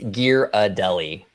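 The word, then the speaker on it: Ghirardelli: Oak viiew by the way says um it's gear a deli there's a painting of a parrot that shows how to pronounce it inventory account well see there there you go it's and I always say giradelli Okay okay so majority of the times I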